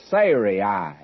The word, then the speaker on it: Sarai: It's Sarai would be the correct pronunciation before.